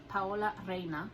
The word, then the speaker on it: Paola Reina: of the box a little information polo arena Powell arena is how you pronounce it and the original and I'll show